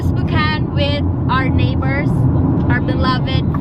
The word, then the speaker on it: Spokane: to where drivers cocaine getting to spoken I didn't know that's how you pronounce it I thought it's spooky always provided we're heading to spook on with our neighbors our